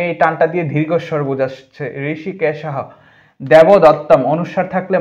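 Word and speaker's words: হৃষীকেশঃ: পান চনিয়ম জফলার কারণে ইয় হয় জনিয়ম ঋষিকেশ ঋষিকেশহ ওটা বিলুপ্ত হয়ে হ উচ্চারণ হবে এ কারণে এই টানটা দিয়ে দীর্ঘস্বর বুঝসছে ঋষিকেশহ দেবদত্তম অনুস্বার থাকলে ম হয় তাই দততম এইযে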